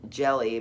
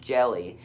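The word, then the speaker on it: Hjelle: had it in the third inning with sean jelly that's his it's pronounced jelly but it's like h j e l l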